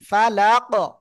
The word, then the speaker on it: فلق: তাহলে কি ফালাকি, এটার জায়গায় ফালাক এমন উচ্চারণ হবে।